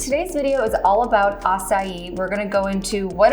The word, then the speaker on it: acai: So this is acai, A-C-A-I.